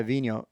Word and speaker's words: Vinhos: vinhos the gallerist yeah vino you know v-i-n-h-o-s yeah i think yeah i think that's how i hear it pronounces but i haven't